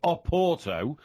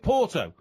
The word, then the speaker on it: Oporto: If you went to Portugal and said, I think I'll leave Lisbon today and go to Oporto, nobody'd know what you're talking about. Because over here we call it Porto.